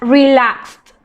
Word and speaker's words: relaxed: Then we have race, raced, relax, relaxed. Okay, remember that not all the verbs are pronounced like they are written. Relaxed, walked, found, picked. It's more like a T sound.